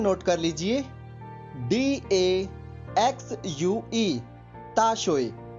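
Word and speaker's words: 大学: इसकी spelling note कर लीजिए, DAXUE, ताशोए। स्पेलिंग एक बार फिर सुन लीजिए, DAXUE।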